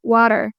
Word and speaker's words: water: For example, say we have the word water, T-W-A-T-E-R, water. Here, the T is between A and E. So there are 2 vowels and the T is between them. So you have to pronounce it as D, not water.